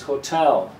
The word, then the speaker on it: hotel: word correct prononciation is Hotel the second syllable is the strong one so this little vertical